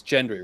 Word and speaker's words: Gendry: Everyone wants Gendry, right? I like Gendry. I prefer Gendry. Okay, I'll say Hard Gendry. G. Hard G. Hard G, yeah.